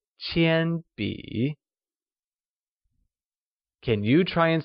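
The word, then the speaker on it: 铅笔: This is not a pencil becomesZhèbúshìzhīqiānbǐ , where Pencil translates to Qiānbǐ Qiānbǐ is pronounced with a high level tone on a and a falling rising tone on i, like Qiānbǐ Can you try and say the whole sentence?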